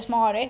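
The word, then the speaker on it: Smári: heter Smäri. Ja. Eller Smari, beroende på hur man vill uttala det, men det heter ju Smäri om det är på isländska.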